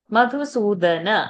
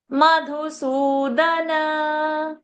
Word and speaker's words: मधुसूदन: Madhusudana. I'm also not chanting it. Why are you developing a wrong pronunciation? Madhusudana.